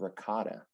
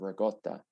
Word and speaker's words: ricotta: about the cannoli shells, you said ricotta instead of ricotta. Yeah. Which I know. Yeah. New Yorkers, Italians especially, might have had a problem with that pronunciation, but I know it fit the T'Challa rhyme better.